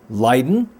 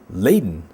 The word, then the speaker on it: Leiden: geographic area in holland depending on where you are from it can either be pronounced leiden or laden it's kind of like